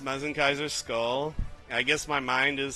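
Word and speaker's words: Mazinkaiser SKL: I'm going to blow your mind that that is pronounced Mezen Kaiser skull.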